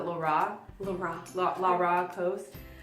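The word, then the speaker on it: Rara: It's R-A-R-A, but they pronounce it La Ra.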